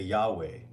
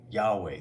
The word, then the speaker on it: Yahweh: to I'm going to teach you real quick how to pronounce Yahweh the proper way it it has to do with your breath you don't even have to bring your lips together all you got to do is take breath are you are you